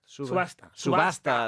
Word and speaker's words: subasta: Subasta. That's it. Subasta.